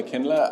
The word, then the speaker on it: Aklina: I'm here with Aklina. Is that pronounced correctly?